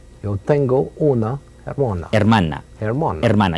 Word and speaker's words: hermana: Hermana. Hermana. You don't pronounce the H.